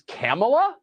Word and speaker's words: Kamala: came to say thank you hey Cleveland it's camela okay there are dog whistles and then there